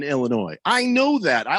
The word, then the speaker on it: Illinois: to remind us that the s is silent in illinois i know that i